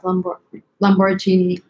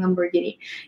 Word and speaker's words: Lamborghini: Lamborghini, that's what I used to say, but now I'm saying Lamborghini.